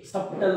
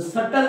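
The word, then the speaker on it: subtle: doubt doubt सप्टल पण हे सप्टल नाही हा शब्द सटल आहे काय आहे सटल म्हणजे या भ चा उच्चार करत नाही हा सायलेंट आहे मग तुम्ही म्हणणार आम्हाला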